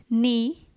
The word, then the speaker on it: knee: Knee, K silent.